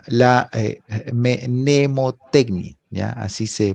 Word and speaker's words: mnemotecnia: lo que ustedes entienden mapas conceptuales y la nemotecnia ya así se pronuncia nemotecnia está capacidad que todos tenemos de